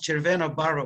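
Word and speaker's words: Červená Barva: to you and to chair vanna barber press in my language it would be pronounced cervena baro which would mean a red color uh and i'm very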